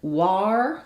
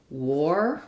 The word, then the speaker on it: war: Even though we have the letters AR, if you said war with an R sound, that's incorrect. It's actually war with an OR sound. It's the same as the word war. So just like we had letters OR turning into the after the W, when we have letters AR after a W, they say the OR sound most typically.